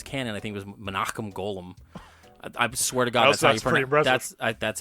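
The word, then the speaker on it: Menahem Golan: guys who runs Canon I think it was monum golum I swear to God that's how that's that's how you pronounce his name and it's scary that I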